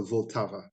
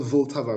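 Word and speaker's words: Vltava: most popular one is what is called the voltava it's like a river i don't know if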